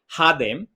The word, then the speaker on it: Jadem: at the beginning because my name is pronounced hadem in Spanish right but when I